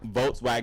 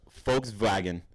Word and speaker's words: Volkswagen: and the vows too they don't pronounce V's I don't like V's like that anyway though cuz like Volkswagen is actually Volkswagen I saw you uh folks vagon I saw um Tik